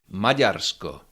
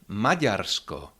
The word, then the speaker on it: Maďarsko: Majarco. Majarco that is D with heart check.